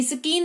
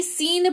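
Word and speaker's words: scene: सीन एस सी ई एन स्किन नहीं सीन पढ़ते हैं।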